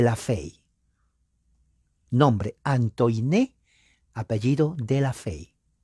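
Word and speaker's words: de la Faye: fe nombre antoine apellido de la fe se escribe falle pero la a es e y la e no se pronuncia solamente la y por eso es fe y antoine de la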